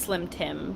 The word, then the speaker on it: Slime Time: that's how it's spelled it spelled slime time but it's pronounced slim Tim because the easier Slim